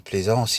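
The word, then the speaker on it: Pleasence: Je le prononce à la française parce qu'on parle des ports de Plaisance. Et Donald Pleasance, il a joué notamment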